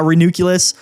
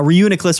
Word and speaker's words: Reuniclus: Uh is going to be Renuculus. Uh uh Reuniclus rather. I always say it wrong. Reunicless.